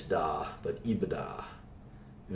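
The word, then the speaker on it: EBITDA: this sometimes call this Aveda it's how you pronounce it yadda not EEB it's da but eBay da and its earnings before interest taxes depreciation and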